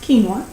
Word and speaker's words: quinoa: quinoa quu i n o a but it's pronounced quinoa um and these things it says makes for